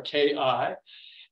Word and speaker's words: Qi: In the Asian text of energy, it's called Qi energy or Qi energy. And Qi is pronounced Qi or Ki, and it's also pronounced, the Q is also pronounced Qi, or it's spelled Chi or Qi.